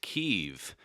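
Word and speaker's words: Kyiv: impeachment hearings yesterday is that Kiev is actually pronounced keeve now some lawmakers are still wrestling with whether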